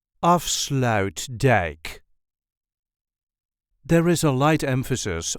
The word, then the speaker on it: Afsluitdijk: This is the way we say off slout deck of slout deck. There is a light emphasis on the first syllable of slout deck. Off slout deck of slout deck.